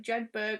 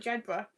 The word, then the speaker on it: Jedburgh: pronounce that because you you probably think it was like jedburgh or something but jebra sheppard jeber jebra it's like edinburgh edinburgh it's not like edinburgh